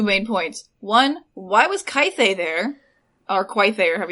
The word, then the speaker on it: Quaithe: One, why was Kythe there? Or Quaithe, or however you say her name. Quaithe. That's how Roy Dotrice. That's how Roy That's Dotrice she says Quaithe.